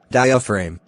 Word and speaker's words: diaphragm: The part to blame is your diaphragm, pronounced diaphragm.